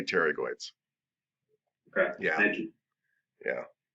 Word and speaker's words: pterygoid: up in the mouth and they're spelled paterigoid but you say pterygoids okay yeah thank you